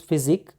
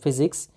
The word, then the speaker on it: physique: Sorry, the word is physique. By mistake I pronounced it physics.